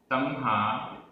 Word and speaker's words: तम्हा: तम्हा, तम्हा अधमा ह, तम्हा।